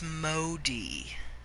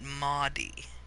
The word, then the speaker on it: Modi: a video of people playing this so the pronunciation tip there its Modi not Maudie mode ah the great dining hall envy of